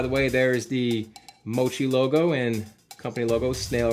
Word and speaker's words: Moqi: way there is the mochi logo and company logo snail right there why it's pronounced mochi i have no idea even though that's a cue but it is what